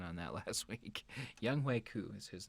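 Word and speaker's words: Younghoe Koo: pronunciation on that last week. Young Hui Koo is his name.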